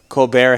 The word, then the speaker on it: Colbert: the colbert report but because uh colbert has a silent t you actually said report